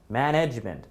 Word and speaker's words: management: say definitely be here I think this the stress is in the second syllable management management management manage right management